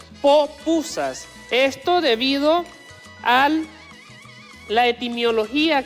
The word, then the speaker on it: pupusa: también ya recordar también el origen de la palabra pupusa en realidad no es la forma etimológica correcta de pronunciar esta palabra en realidad se verían de llamar popusas esto debido al la